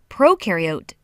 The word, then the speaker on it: prokaryote: is a big deal prokaryote the pro rhymes with no and they have no